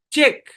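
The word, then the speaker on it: cheque: শব্দের শেষে কিউ ইউ ই একসাথে থাকবে এবং ইউ ই সাইলেন্ট থাকবে। আচ্ছা, খেয়াল করেন। ইউনিক, এটা silent. চেক, ইউ E silent.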